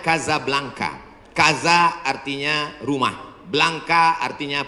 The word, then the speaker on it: Casablanca: kuliah nama negaranya Maroko ibukotanya tulisannya Casablanca cara bacanya Kadzab langka Kaza artinya rumah Blanca